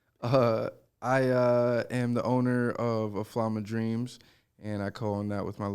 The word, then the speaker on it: Aflam: First time I heard about it was Aflam, right?